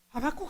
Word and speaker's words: 하박국: 하박국 선지자가요. 발음을 잘해야 됩니다. 잘못하면 무슨 음식 이름이 돼요.